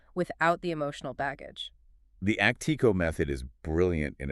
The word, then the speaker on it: ACTIQO: ACI Qo, that's spelled AC TIQO, and it's pronounced Actico. They've built this structured framework to help families step back and actually evaluate these activities without the emotional baggage. The Actico method is brilliant in its simplicity because it